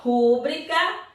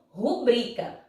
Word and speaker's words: rubrica: Porque rúbrica tinha que ter um acento agudo. E, na verdade, ela é escrita dessa forma, sem o acento. Então, correto será você pronunciar essa palavra como rubrica, certo? Então, não esqueça, não pronuncie mais rúbrica. Você tem que pronunciar o quê? Rubrica. Mas é tão estranho? É estranho, mas é a forma correta da palavra, ok?